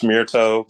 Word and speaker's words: Mirto: How do you pronounce it? Mirto. It's Mirto, but Mirto.